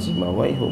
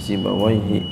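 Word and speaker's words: سيبويه: kaum Q sibawaii sibawaihi dia mabni ya jangan sibawaihu bacanya sibawaihi haddasani yunusu annaan Yus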